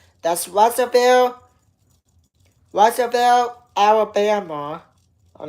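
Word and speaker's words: Russellville: That's Russville.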